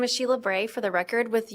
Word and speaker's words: Sheila Bray: My name is Sheila Bray for the record with the University of Nevada Reno. That's spelled S H E I L A space B R A Y.